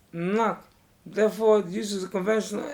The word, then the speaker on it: NoC: Notes this article use is the convention that NOC is pronounced knock.